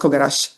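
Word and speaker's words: 凩: It's pronounced kogarashi.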